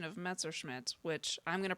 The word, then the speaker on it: Messerschmitt: Well, no, he was saying that he said he heard me pronouncing it with the Smith at the end, and I was like, no, I was saying Messerschmitt. But for some reason, whatever word followed after that, my accent muddied it.